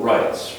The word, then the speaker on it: rites: threats during the funeral rites right it's just like it would be pronounced like R IG HT s right same pronunciation different spelling and different mean okay right very